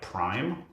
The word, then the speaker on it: prime: It's not spelled P-R-E-M-E. It's spelled like prime, but it's French. It's Prime.